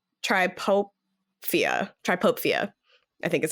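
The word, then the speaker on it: trypophobia: it's called I looked it up it's called triopia triopia I think is how you say it um and it's the fear of a cluster of tiny Hol tripofobia yeah sorry say again say again what it's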